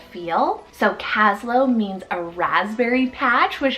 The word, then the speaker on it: Caslo: And it just has that low ending, like the Winslow, Shiloh kind of feel. So Caslo means a raspberry patch, which I thought was so cute.